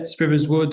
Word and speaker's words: Sprivers Wood: I think is it Sprivers Wood? Is that how you pronounce it? That's correct, sir. Yeah, Sprivers Wood.